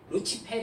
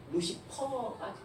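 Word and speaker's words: Lucifer: 합해진 말이 루시퍼 예요 이거 어 원래 발음을 루치 페리의 요 물 지배 루치 폐 인데 이걸 영어로 발음을 하니가 루시퍼 이 아시겠죠 아 에 빛을 가져오는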